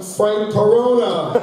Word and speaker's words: Corona: Rhymes with Corona, Frank Corona.